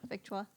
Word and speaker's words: Victoire: Well, I don't know if they're going to pronounce it Victory or the Victoire. or Victoire. Victoire. The French version.